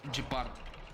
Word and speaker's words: Gepard: I don't care, it's pronounced Gepard.